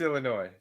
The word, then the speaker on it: Illinois: with him uh it's Illinois the S is silent no no people from